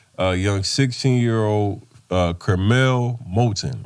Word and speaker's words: Curmel Moton: he's like that uh young 16year old uh Kel molon right yes sir I said it right got